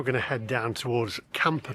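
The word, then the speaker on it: Kampa: Right, we're now going to head down towards Camper Park, which is spelled K A M P A Park, not camper as in campsites, and it's one of the most tranquil spots in Prague.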